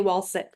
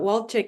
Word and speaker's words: Walcik: to have two guests, Joshua Calhoun and Walchick. Did I pronounce that correctly? Yes, actually perfectly. But some people call it say Walsick but Walt Chick is the right pronunciation.